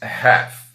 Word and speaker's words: half: Uma dica importante aqui para essa palavra é que a pronúncia dela, embora tenha uma letra L, eu não pronuncio esse L na hora de falar. Eu digo apenas half, right?